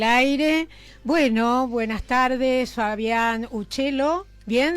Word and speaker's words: Uccello: Bueno, buenas tardes, Fabián Uccello. Bien, ¿estamos pronunciando bien tu apellido? Perfecto, pájaro en italiano es Uccello.